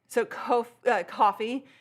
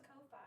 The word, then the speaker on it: Ko-fi: It seems like coffee is how they say this. I thought it was Ko-Fi. No, I think it's coffee.